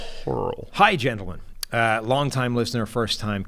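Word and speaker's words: Hoerl: Because it's spelt H-O-E-R-L. You could have gone either way with that. Hurl.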